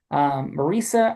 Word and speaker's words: Marisa: Marisa, as in Lisa, rhyming with Lisa, how was your time?